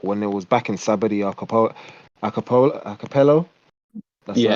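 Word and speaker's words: Sabaody: Well, basically, Kuma visited all the places where he sent all the Straw Hats at when it was back in Sabadi Archipelago. That's yeah. how you pronounce it.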